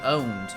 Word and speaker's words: pwned: or something not owned pwned there's a minute difference they're listen every knowledgeable person we wear knows that PW n actually is pronounced owned you don't you don't say the P so one didn't watch